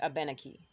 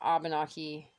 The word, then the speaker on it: Abenaki: for pronouncing the words, the emphasis falls on the en. So it'd be Abenaki. Or the ben, I should say. So I think that's the main thing, is it's not Abenaki and it's not Abenaki.